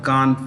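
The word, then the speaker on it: Cannes: awards given at the Khan film festival that's how you pronounce it Khan c-a-n-n the es is silent or you could simply say the S is silent now all of these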